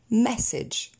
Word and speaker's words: message: On va pas dire message, où là il y a une double faute. J'ai déplacé l'accent tonique sur la deuxième syllabe et j'ai prononcé le A en A. C'est très vilain, donc on reprend message.